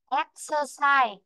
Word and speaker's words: exercise: Bạn đọc này, exercise khi nó rơi với chữ exercise không có